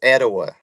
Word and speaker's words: Etowah: I think it's Etowah. I've had multiple Etowah. fans message me and say, and they even sent me a voice memo, and they pronounced it for me, so it's Etowah.